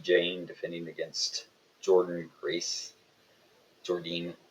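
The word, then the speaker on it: Jordynne: Jordine, I believe, is how you say her name.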